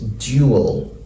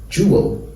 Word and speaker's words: jewel: gets in FAL speech but normally the pronunciation is duel duel but if you look now in um Daniel Jones dictionary you will see that this pronunciation has taken over from this pronunciation so mostly in British English what you're most likely to hear them say is jeo jeo same way with this